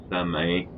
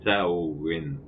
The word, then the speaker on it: Samhain: Les sorcières qui savent pas ce qu'ils font, ils vont appeler ça Samhain, mais la véritable prononciation, c'est pas Samhain, c'est pas Samhain, c'est Samhain, la véritable prononciation.